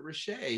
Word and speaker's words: Rachea: see it i i could see that you pronounced it richey yeah it it worked really well well listen